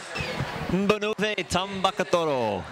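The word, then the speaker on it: Banuve Tabakaucoro: Tabakuro, I'll let Matt Lynch pronounce the winner. Banuve Tabakathoro.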